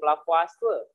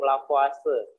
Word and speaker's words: Lavoisier: Ya, hukum dasar yang pertama hukum Lavoisier. Orang Prancis ya, biasanya kan kalau dibacanya nggak sesuai dengan tulisannya gitu ya. Hukum Lavoisier.